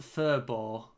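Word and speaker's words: Faribault: That I guess the U is like a W. Furball. And the LT doesn't really make a sound.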